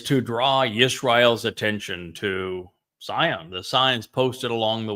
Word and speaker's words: Zion: pronounce the Hebrew Wah, look to a word like Zion. It's always the O sound, isn't it, in Zion? That's delivered from the Hebrew Wah.